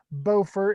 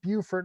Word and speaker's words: Beaufort: We know it's Beaufort and not Beaufort, although I think it's Beaufort, South Carolina, if I'm not mistaken.